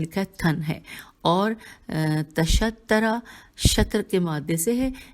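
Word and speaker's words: تَشَطَّرَ: کے لیے عربی میں تشترا کا لفظ ہجے کر دوں، تے پہ زبر، شین پہ زبر، توئے پہ تشدید اور زبر، اور پھر را کے پھر زبر.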